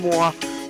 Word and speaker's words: Moi: It's Moi. That's how you pronounce it, and I fucked it up still.